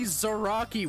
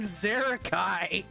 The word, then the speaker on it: Zaraki: right but it's like it's clearly zaraki where the are we getting zarakai yeah don't ask